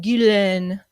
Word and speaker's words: Ghislaine: Ghislaine Maxwell, age 59, locked up in a Brooklyn jail right now.